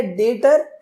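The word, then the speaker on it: debtor: देखो, डेटर की अगर हम बात करें, यहाँ पे डेप्टर लिखा है, बट इसको पढ़ते हैं हम तो बी साइलेंट होता है, तो इसे हम बोलते हैं डेटर।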